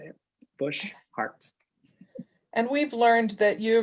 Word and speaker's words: Boshart: problematic but uh it we pronounce it bush heart so if you think about the heart in your chest and the shrub bush heart and i don't know